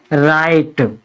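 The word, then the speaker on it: write: भी शुरू होते हैं ऐसे शब्दों में हम व का उच्चारण नहीं करते हैं आर से स्टार्ट करते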